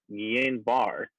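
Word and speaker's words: Guillain-Barré: a very rare syndrome very rare neurologic syndrome nien bar i probably horribly butchered that but it is spelled g-u-i-l-l-a-i-n-b-a-r-r-e so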